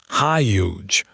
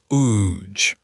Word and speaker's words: huge: It starts with a high sound. Huge, not ooge.